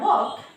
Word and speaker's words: walk: Then we have walk, a familiar word that we all use, walk.